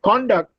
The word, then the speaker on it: conduct: Look at conduct. If I say conduct, that is, if I put a stress on con, then it is a noun. But if I put a stress on the second syllable, it is a verb, like conduct.